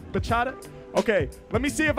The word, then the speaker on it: bachata: Bachata is a type of salsa dancing. Am I saying it right? Bachata? Bachata?